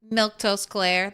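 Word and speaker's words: Milquetoast Claire: I'm Miltose Claire. That's how you say my name.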